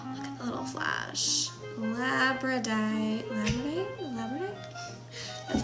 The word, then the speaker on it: labradorite: Labradorite.